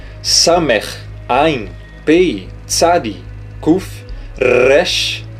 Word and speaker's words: Resh: Resh, lembre-se que não é Resh, porque não é rei. Aqui é Resh, com o R bem puxado, Resh, tá?